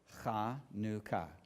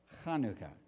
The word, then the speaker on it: Chanukah: The Hebrew word for dedication, which is also the same word for consecration, is pronounced in Hebrew, Chanukah. Chanukah.